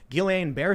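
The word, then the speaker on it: Guillain-Barré: that i will also say however to charlie guillain-barre syndrome which i'm probably pronouncing wrong always mispronounced my understanding is actually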